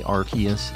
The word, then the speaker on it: Arceus: the anime yeah but they also say Arceus and I just I still haven't gotten on board with that it's it's arcuse as we all know my two